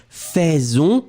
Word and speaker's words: faisons: Nous faisons, you pronounce it like f, but you will write it AI. Faisons will be pronounced faisons.